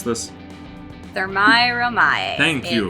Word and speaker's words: Thermae Romae: The real Rome with, Chibi, can you pronounce this? Thermae Romae.